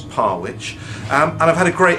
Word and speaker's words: Parwich: is parwich so um Parrish looked like the smart way of trying to pronounce it but no it's parwich and I've had a